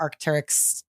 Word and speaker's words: Arc'teryx: You know, like to the point where you wear Arc'teryx. Did Leaf? I pronounce that right?